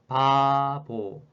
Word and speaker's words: 바보: When this sound comes in the front, it sounds similar to P, whereas this B is in between vowels R and O sound, so it sounds more like B sound. So when I pronounce the word, I might pronounce like this: 바보, 바보, 바보.